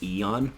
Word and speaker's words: Aeon: they call them Aeons that word is technically pronounced Eon but they don't do that in the game